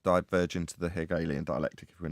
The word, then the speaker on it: dielectric: way the the dialect how do you say that word is it dialectic big alien dialectic I can never quite say that right anyway dielectric like diamonds and I